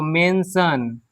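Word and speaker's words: mention: Main T के साथ आई ओ लगा है तो मेंशन, मेंशन। तो इस तरीके से हम देखें कि टी के साथ अगर आई ए, आई ई, आई ओ है तो हम हमेशा श का उच्चारण करेंगे।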